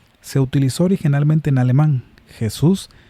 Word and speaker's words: Jesús: Jesús se pronuncia en forma muy parecida al griego yesous.